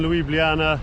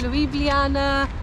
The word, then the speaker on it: Ljubljana: Just arrived in Ljubljana. Not really sure how to pronounce it. We don't know whether it's Ljubljana, Ljubljana, Ljubljana, Ljubljana.